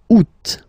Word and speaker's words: août: And then here, two options, because, well, two options are acceptable in French. The first one, you don't pronounce the final T. Ou. Ou. Ou. Second one, you pronounce it. Août.